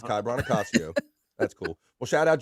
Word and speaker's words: Brancaccio: Yeah, the C is pronounced hard, but it's not a big deal. Kai Brancaccio. That's okay. Joey always forgets to say the N. He goes Brancaccio. It's like Brancaccio. It's not a sandwich.